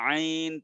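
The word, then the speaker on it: ع: এরকম ভাবে আইন তিনটা হরফ দিয়ে লেখা, আইন ইয়া নুন, আইন চার আলিফ টানবেন।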